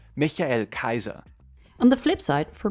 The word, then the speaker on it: Michael Kaiser: In my defense, the Japanese rendition of the name actually approximates the German pronunciation, Michael Kaiser.